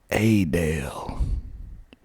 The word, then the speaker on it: Adel: ocilla oh silla ocilla georgia that's how you pronounce it a dale hey dale there's a uh car dealership commercial